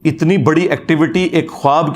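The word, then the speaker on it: خواب: वाव उड़ जाती है इसको पढ़ने का तरीका है ख्वाब ये खवाब नहीं पढ़ा जाता वैसे उर्दू में चल भी जाता है लेकिन ये लफ्ज़ है खवाब तो व उसमें फिर साइलेंट हो जाती है तो यह जो नबुवत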